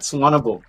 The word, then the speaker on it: Suvarnabhumi: Suvarnabhumi.